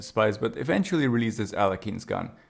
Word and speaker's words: Alekhine: Officially, it's pronounced as Alakine, but I'm just going to call it Alakin because the real life Alakin's gun is actually a famous chess formation named after Alexander Alakin. It kind of means placing